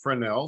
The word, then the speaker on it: Fresnel: happen told Chris next slide this is the fresnel lens pronounced fresnel spelled f-r-e-s-n-e-l it is named for Augustine fresnell